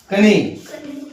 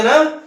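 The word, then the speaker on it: knee: कनी पढ़ेंगे ना। इसका शुद्ध उच्चारण क्या हो गया? कनी। लेकिन हम इसको क्या बोलते हैं? नी बोलते हैं। क्या बोलते हैं? इसमें हमारा के क्या हो गया? साइलेंट हो गया।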